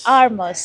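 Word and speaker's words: Hermès: আরমাস, Armas. আরমাস, ইয়া, Armas. হ্যাঁ, Is this the spelling? Yeah, There is a D. হ্যাঁ, Okay. বাট এটাকে pronounce করে এভাবে আরমাস। Armas.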